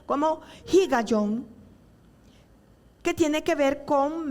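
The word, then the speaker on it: הִגָּיוֹן: acompañado de un término muy importante que se pronuncia como higayon, que tiene que ver con meditar.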